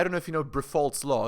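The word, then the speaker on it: Briffault: Because I don't know if you know Brifault's law. It's spelled B-R-I-F-F-A-U-L-T, Brifault.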